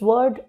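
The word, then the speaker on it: woe: a b again because this word w o e it rhymes with show and no it's called wo and then flow again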